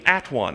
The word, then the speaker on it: atone: the word one became at one I'm gonna go at one them but it was pronounced a tone why was it pronounced to tone because that's Old English pronunciation if you're all by